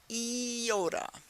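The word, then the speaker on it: iota: with a little trick eoda e yikes e yikes we've got another cluster e yikes Kappa is a cap and Lambda yikes we're putting a cap on a lamb you know it works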